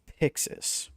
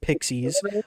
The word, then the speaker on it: Pixis: on building a company known as Pixis but you can pronounce it Pixies I figured most people